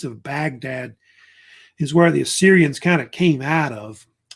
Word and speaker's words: Assyrian: You know, a lot of people say Assyrian, but some people think it's actually pronounced Ashurian because of the actual origin of the actual name of the city.